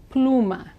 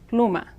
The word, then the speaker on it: pluma: Latin America means pen the Spanish U is an ooh sound ooh pluma pluma pen now in situations